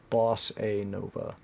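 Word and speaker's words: bossa nova: lot too but yeah it's called BOS NOA it's spelled b o SSA n oova boss a Nova and I got turned on to that style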